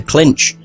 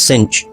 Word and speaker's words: clinch: Oh, it's a clinch, not cinch.